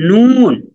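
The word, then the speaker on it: نون: মিম মিম মিম হ্যাঁ মাশাল্লাহ তারপরের হরফটা হচ্ছে নুন হরফটার নাম কি নুন নুন নুন তারপরের হরফটা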